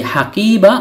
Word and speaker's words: حقيبة: তাননুন ব্যতীত শুধু হাকিবা শব্দটির অর্থ হল ব্যাগ, থলি, থলে, সুটকেস, ব্রিফকেস ইত্যাদি। হারাকাতুন উচ্চারিত না হলে এই গুলতাটি বাংলার হ বর্ণের উচ্চারণ দেয়। তাই হাকিবা উচ্চারণ করেছি।